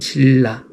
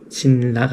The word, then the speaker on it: 신라: 없이 만들어지는 거 같고 우리나도 마찬가지고 자음 동화라든지 신라 뭐 이런 것들 신라가 아니라 신라 이렇게 발음하는 것처럼 뭐 자연스럽게 읽다 보면 바뀌는 것들이